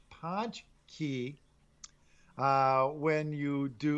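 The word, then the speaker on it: pączki: right so did you how do you say this word punch no it's actually punch it's ponch key uh when you do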